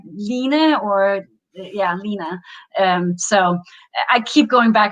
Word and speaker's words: Line: But also often when I say my name is Lina, if people don't see the spelling of it, they will say, "Oh, my, Russian grandmother was Lina."